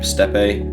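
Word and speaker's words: steppe: I put the mammoth steep steepe how do you say that um Step no yeah it's just step isn't it murals on there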